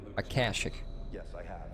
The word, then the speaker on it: Akashic: Akashic, okay, so I did pronounce it right. Akashic.